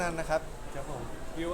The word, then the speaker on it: วิว: นะ ครับ ครับ ผม วิว อ่าน ว่า วิว นะ ครับ วิว นะ ครับ เฮ้ย